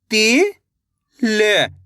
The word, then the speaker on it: तिल: ज्यादा खींच के नहीं पढ़ना, तिल। अगर तिल पढ़ दोगे तो बड़ी ई की मात्रा का उच्चारण हो जाएगा। किसका, बड़ी ई की मात्रा का। अपन छोटी ई की मात्रा पढ़ रहे तो कम खींच के पढ़ेंगे, तिल।